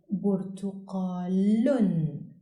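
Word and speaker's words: بُرْتُقَالٌ: In its final word position, doubled dhamma on lam is pronounced lun, like in the example burtuqalun, which means orange.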